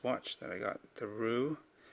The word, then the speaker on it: Roue: Thoughts on this watch that I got, the Roue. I believe that's how you pronounce this, R-O-U-E, and I believe it's wheel in French.